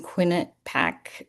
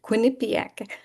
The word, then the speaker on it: Quinnipiac: MBA in healthcare management from Quinnipac Quinnipiac. I always pronounce that wrong.